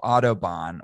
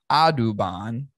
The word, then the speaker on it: Audubon: he was saying that like the pronunciation of autobahn was that of the german highway as we know it right the autobahn yeah but what it really is after i did my research is adubon which is a book